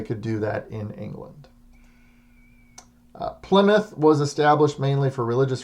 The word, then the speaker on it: Plymouth: group established the plymouth colony and it is pronounced plymouth in what is now massachusetts so this is